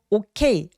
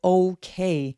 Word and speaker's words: okay: 이거 okay 아니고 okay 라고 둥글둥글하게 소리 내주시면 됩니다.